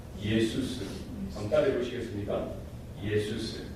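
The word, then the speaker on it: Ἰησοῦς: 예수스. 한번 따라해 보시겠습니까? 예수스. 네. 예수가 뭐라고요? 예수스. 지저스 아닙니다. 지저스는 영어 발음이에요. 헬라 발음은 뭐야? 예수스 혹은 이수스.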